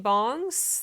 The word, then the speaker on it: bang: to be about PC bongs that is usually spelled ba ng but it's actually pronounced bong if you read in Hangul so yeah that's the